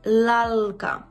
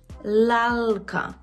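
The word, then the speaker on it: lalka: Він є завжди м'який, плюс м'який в такий дуже специфічний спосіб. Ви повинні добре поставити свій язик при вимові цього звука. І кінчиком язика маємо торкнутися верхнього піднебіння. «Л». Л, л, л, л, л. Так? І, наприклад, у слові лалка, лато, лас, польська, лато, лалка, лас, польська.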